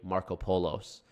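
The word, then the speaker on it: Markopolos: talk about Harry Harry markopolis before and I realized his his last name is pronounced Harry Marco polos like Marco Polo he's Greek um and if you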